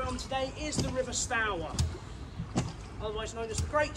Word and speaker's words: Stour: Stour is an Anglo-Saxon word. Would have been pronounced stour back in the day, and it means fast flowing and aggressive.